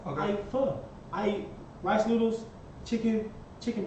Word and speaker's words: pho: I eat pho. Okay. I eat pho.